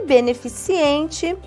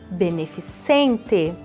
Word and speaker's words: beneficente: é em nível d e beneficiente não tem este I O correto é beneficente algumas palavras que observamos